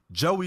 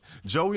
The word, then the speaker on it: Geauxie: Geauxie, ladies and gentlemen. Geauxie. Okay. Now it's spelled Geauxie. Yeah. That's how they spell in Joey, but it's pronounced Joey, like Joey.